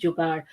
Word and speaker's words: jugaad: At some point in their life, every Indian has experienced jugaad. Pronounced jugaad, it is a Hindi word about innovation and creativity in all areas of life.